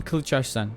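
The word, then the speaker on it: Kılıçarslan: So this is Sultan Kilcharan. Yes, this is how you pronounce it in Turkish.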